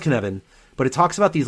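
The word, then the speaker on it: Cynefin: Cyn f n and it's a Welsh word that's why I I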